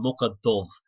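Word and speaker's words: Muc Dhubh: On Mucka Dove, that's how you say it in Irish. You get there's on Mucka is pig and Dove is black, and there's black pig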